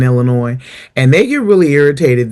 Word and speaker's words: Illinois: You know the S is silent in Illinois.